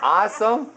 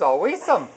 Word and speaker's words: awesome: Also pronounced as awesome. But yeah, if you pronounce all the letters, a weesome.